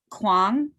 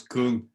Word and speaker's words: Kuhn: Is it Kwong? It's Kuhn.